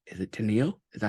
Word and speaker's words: Teneil: Is it Teneil? Is that how you say it? Teneil, yeah, Teneil? Teneil.